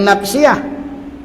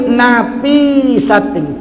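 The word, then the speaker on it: نفسية: bukan tak kena tu, bukan nafsiyah, yang betulnya napi sating, titik ya tu terletak selepas huruf pa.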